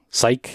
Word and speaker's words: Psych: Instro Psych, apparently it rhymes with bike. Psych, Instro Psych.